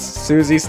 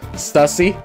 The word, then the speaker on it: Susie: Also, I don't know why, but I pronounce Susie's name as Stussy. No, don't do that. It's yeah, Susie. I mean, I guess I could understand the mistake, but it's definitely Susie.